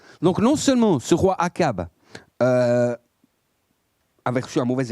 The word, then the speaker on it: Achab: Est-ce que vous savez qui est le roi Akab ou Achab selon la prononciation ? Akab ou moi je dis Akab, d'accord ?